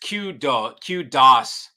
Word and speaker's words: Kudos: Kudos is pronounced Q-DOS.